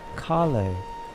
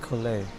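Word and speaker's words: Collei: up with colleagues oh it's pronounced kali kale not cola that's a cool name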